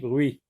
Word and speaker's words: bruit: Du bruit. Le T est une lettre muette. Le mot se compose d'une seule syllabe. Br avec oui, ça se dit bruit.